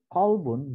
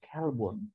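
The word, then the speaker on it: قلب: Tapi karena cara menyebutkannya salah, Nawwir qulubana ya Allah, ka qalbi rasulika. Nauzubillah min dzalik. Terangilah anjing kami ya Allah seperti anjing Rasulmu ya Allah. Nauzubillah. Qalbun dengan kalbun itu berbeda pengucapannya.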